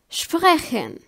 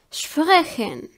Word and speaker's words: sprechen: pe at the beginning of the word it's pronounced like in the word spock for example sprechen sprechen it means to speak then pe ha is